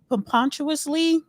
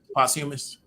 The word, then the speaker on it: posthumous: Nipsey Hussle is how you pronounce this word? Pompontuously? I don't know. Paying it forward. Posthumous. Posthumous.